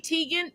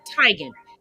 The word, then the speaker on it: Teigen: their name and you know i'm all about pronouncing people's names properly it was never grande it's granny just like chrissy teigen is really crazy chrissy tygan denzel washington is actually denzel washington cicely tyson